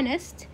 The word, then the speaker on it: honest: كمان ها نحط constant a honest مال مو honest حطيناها نطقها الالف فنعمل معاملة الفاول an honor وليست honor فنعاملها معاملة الفاول الـ A نحط on.